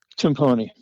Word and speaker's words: Timpone: I've heard it pronounced several different ways. What's the correct way? Is it Tipone or Timone? Timone.